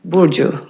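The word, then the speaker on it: Burcu: Bourju Bourju Musa. How do you spell that? uh spelling is B u r cu but c is pronounced with a j sound.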